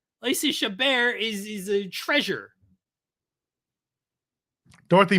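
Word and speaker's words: Chabert: with the HBO snowman shabar not shabber sh for for this for this you want to use the proper French initiation or the French pronunciation I will not have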